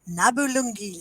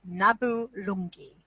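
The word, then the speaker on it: Nabulungi: off elder Kevin price elder Arnold Cunningham and nabulangi yay three characters what's the musical elder Kevin price elder Arnold Cunningham and Nabu lungi sorry I said it wrong the first time Nabu longi what's the musical few more arias arena that's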